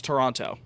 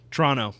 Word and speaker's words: Toronto: That second T is a little more subtle. Right. Toronto. Toronto. No, you say TR Toronto. You say like Toronto. Toronto. Toronto. No, now I'm having a stroke. But that is Yeah. Less tease. You bet. It's like TR. Less tease the better.